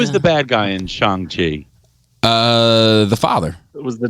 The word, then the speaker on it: Shang-Chi: So who's the villain in Shang-Chi? Why do you keep saying Shang? The same reason why it says Hong Kong. Hong Kong, but Shang-Chi.